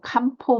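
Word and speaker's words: 漢方: 이거를 이제 한방의학 해서 일본 발음으로 캄포 메디신 이렇게 말을 하는데요 거기에서 그이 캄포 메디신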